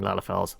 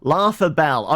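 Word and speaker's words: Lalafells: Thyrus, you're doing samurai class quests, and the class mentor keeps mispronouncing Eorzean words, such as calling Lalafels Laughabell.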